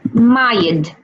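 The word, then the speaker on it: ماجد: How to say the name Majid in Arabic? Majid. Majid. Majid. In Emirati Arabic, we say Mayid.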